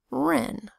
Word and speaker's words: wren: For example, there is a WR phonogram that says R in wren, which is a kind of bird. R, E, N, wren.